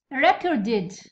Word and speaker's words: recorded: Recorded recorded id recorded.